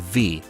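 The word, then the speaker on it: VVVVVV: The creator calls the game V himself, but encourages any sort of silly pronunciation.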